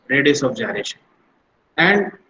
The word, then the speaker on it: gyration: वो फटाक से बोलते हैं sir radius of गायरेशन. It is not gyration, it is pronounced as gyration. ठीक है? अभी क्या चीज है रेडियस ऑफ जायरेशन?